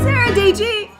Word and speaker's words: Dietschy: Sara Dietschy, rhymes with peachy.